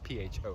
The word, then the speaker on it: pho: It's p h o, right? So, in Vietnamese, it's the correct the correct pronunciation is pho.